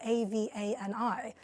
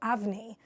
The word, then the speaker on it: Avani: A lot of people want to call her Avani or Avni, but her name is Avni. It's pronounced the way that it would be spelled U-V-N-I, but it's written A-V-A-N-I.